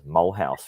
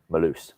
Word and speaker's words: Mulhouse: in france malus or how i thought i'll pronounce it was mulhouse because that's how it's pronounced m-u-l-h-o-u-s-e but malus and she's lived there all her life but